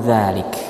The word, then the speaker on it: ذلك: Huruf kaf di akhir bacaan kita dzalik. Hati-hati jangan berhenti dzalik atau malah mantul dzalik. tapi suaranya dibuka saja, ya, dilepaskan. Dzalik, dzalik, ya.